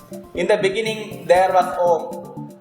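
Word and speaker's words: ॐ: the beginning there was om om is defined as the cosmic sound it is made with three syllables a o and m you can you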